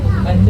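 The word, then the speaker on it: IJ: And there's also a cafeteria in there, behind the windows there, where you have a nice view over with A. And because we pronounce it A, and we spell it I-J.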